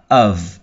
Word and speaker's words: of: đó ở cái chữ of viết là O và F thế nhưng mà lại không đọc là F mà đọc là âm V nhé of of đó và